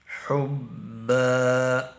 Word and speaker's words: حبا: قد شغفها قد شغفها حبا حبا قد شغفها حبا۔ ہا اور ہا کا فرق جو ہے واضح ہونا چاہیے تاکہ تلفظ کی صحیح ادائیگی ہو۔ قد شغفها حبا